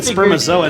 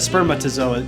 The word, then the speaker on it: spermatozoa: I said spermazoa instead of spermatozoa.